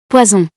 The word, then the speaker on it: poison: This happens when a single S is between two vowels. You can hear it with those two examples. Cousin, poison.